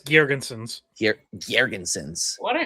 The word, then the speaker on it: Girgensons: Is it Zemgus Gergensons in Tampa? Is that how you say his name, Scott? Yes, Zemgus Girgensons.